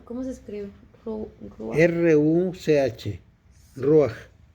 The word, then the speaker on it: Ruach: Ruach. Debería ser con J, Ruach, pero como en inglés no hay J, pues lo tradujeron Ruach y nosotros seguimos con Ruach.